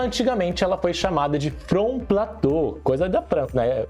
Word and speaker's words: front: Front, o T, essas palavras, as sílabas mudas no final, a gente nunca pronuncia.